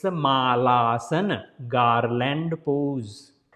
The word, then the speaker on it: Malasana: I have seen everywhere people saying it Malasan, but it is not Malasan. Mal means a stool, poop. Yeah, so it's not poop asan. Maybe in Asia people sitting like that to poop, but it's not poop sitting pose, right? So it's a Malaasan, not Malasan.